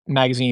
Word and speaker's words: magasin: For those who are not familiar, that's magazine spelled in the French way, but pronounced magazine in the English way.